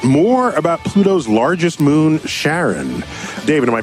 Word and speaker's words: Charon: coming up next more about Pluto's largest moon Charon David am i pronouncing that right Sharon yes yes thank you and New Horizons continuing